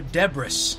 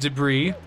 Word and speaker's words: debris: they hurts but they're deborah's is the thing you need to worry about other than that it's fine do the DVD zipper that's degree mr. French I do believe it is pronounced debris oh the deborah's yeah